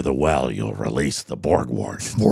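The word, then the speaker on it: Borgwardt: Ryan Borgwart B I'm pronouncing it correctly. B O R G W A R DT. Borg wart.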